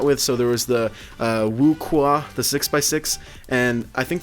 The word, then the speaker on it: WuQue: I was calling it like the WuQue or something like that. I don't know. But it's actually pronounced the WuQue.